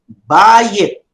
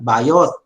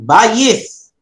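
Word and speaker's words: בַּיִת: Now notice how I pronounce it. Bayit. Not bayot, but bayith.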